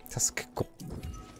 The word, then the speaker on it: Tuskgore: It's really difficult to pronounce. Tuskgore. It goes from K into G.